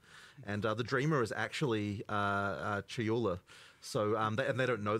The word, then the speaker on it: Chayula: So the acolyte of, and I always get this name wrong, the acolyte of, is it Chalula? Chayula. Chayula, I always say this wrong.